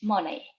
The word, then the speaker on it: money: John hasn't much money. Good. Money. Money. Como maní, pero con acento en la A.